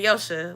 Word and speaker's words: Joche': You say Yo-sha, like fast.